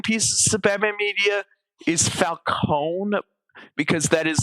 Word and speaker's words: Falcone: Falcone is the correct Italian pronunciation, while Falonee is the Americanized version.